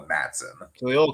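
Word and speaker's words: Matsson: So again, we're after season 3, which means Luca Matson is how you pronounce this? Matson? Matson, yes, and I think we should be calling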